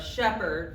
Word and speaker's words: Shepherd: I decided I'm Shepherd, rhymes with leopard, in case you need a rhyme for shepherd.